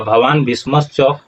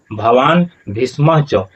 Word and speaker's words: भवान भीष्मश्च: और इस तरह से हम बता रहे हैं कि भीष्मश्च ऐसा उच्चारण नहीं होगा, भवान भीष्मश्च ऐसा उच्चारण नहीं होगा। उच्चारण क्या होगा, भवान भीष्म च, इस तरह से।